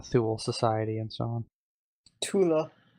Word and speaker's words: Thule: Tula. Yeah, Tula. People say Thule, though, you know.